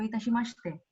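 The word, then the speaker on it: どういたしまして: in return, ie do itashimashite. Ie do itashimashite. It will not be mashite, it will be mashite.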